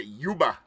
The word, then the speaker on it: Cuba: They don't even pronounce the C. They just say Yuba. Cuba. Yep. That's how they say it for real, South Florida.